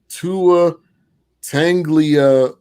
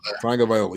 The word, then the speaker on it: Tagovailoa: Dolphins Chargers, Tua Tanglia. Probably gonna say it wrong. Tagovailoa. Tagovailoa. You must be an English teacher.